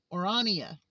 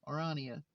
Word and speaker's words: Orania: Orania. It's just it's like Narnia Orania.